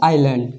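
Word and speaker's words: island: ए रहा है तो हम लोग इसमें एस का उच्चारण नहीं करेंगे तो इसका उच्चारण हो जाएगा आई लैंड ठीक है इसका उच्चारण क्या हो जाएगा आइलैंड जबकि यहां पर एस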